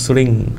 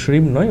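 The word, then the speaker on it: श्रीं: এবং এটাকে রোজ এরমভাবে যদি কচলান, এবং মা লক্ষ্মীর যে মন্ত্র আছে শ্রিং, ঠিক আছে, এখানে অ্যাকচুয়ালি শ্রিমটা উচ্চারণ করে ইংরেজিতে লেখে, বেসিক্যালি শ্রিম নয়, ওটা হচ্ছে শ্রিং মানে আছে, হ্যাঁ, তো শ্রিং আছে ওটা।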